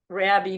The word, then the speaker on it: Rabbit: and there is Rabbi Rabbi is Rabbi because he's a rabbit but the tea is silent at the end so they have have